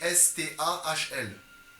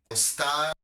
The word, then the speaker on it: Stahl: Stahl ça s'écrit S-T-A-H-L. Alors du coup je sais pas ça se And prononce. it's Michael Stahl.